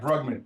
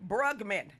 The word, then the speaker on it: Brugman: your last name bugman you said it right bugman bugman and I'm just gonna call you from Gary